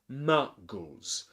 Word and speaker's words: Muggles: not like, for example, Muggles. The word Muggles has two syllables, Muggles, and the stressed syllable is ma.